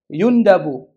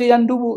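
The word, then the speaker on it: يندب: Imam dan Imam Ahmad yundabu dibacanya yundabu ya disunahkan boleh juga dibaca yandubu sunah gitu yundabu disunahkan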